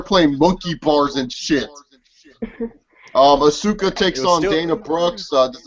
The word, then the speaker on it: Asuka: It's Asuka. Okay, Asuka. Okay, yeah, Asuka Sounds like wins. hookah. It's easy to pronounce her fucking name.